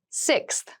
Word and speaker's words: sixth: fifth floor don't you sixth sixth sixth so sixth refers to the number six of something this is a really good word to practice some pronunciation slow down that sixth that middle part there the sixth book from